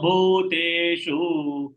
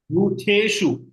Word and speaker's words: भूतेषु: धर्माविरुद्धो भूतेषु कामोऽस्मि भरतर्षभ Bhuteshu. Ta should be pronounced.